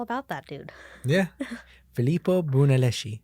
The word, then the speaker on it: Brunelleschi: that dude yeah felipe brunelleschi i probably butchered his last name but it's brunelleschi but i think that's